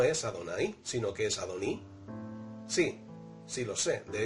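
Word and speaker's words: אֲדֹנִי: Sin embargo, también es cierto que aunque leemos Adoní, la palabra Adoní y la palabra Adonai se escriben exactamente igual. El hecho de que leamos Adoní es debido a los masoretas que aproximadamente en el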